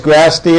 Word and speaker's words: Grasty: It is Grasty, and it's spelled like nasty, Grasty.